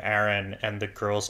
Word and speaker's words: Aaron: But I guess if you say the boy's name Erin and the girl's name Erin.